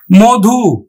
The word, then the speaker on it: মধু: মধু, ম ধয় রস্বইকারে ধু, মধু।